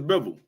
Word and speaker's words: Bivol: Could Lamont Roach be Demetrius Bivol?